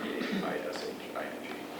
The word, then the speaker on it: phishing: me, and that's called phishing. But it's spelled with a P-H, P-H-I-S-H-I-N-G. But you can think of it just like phishing.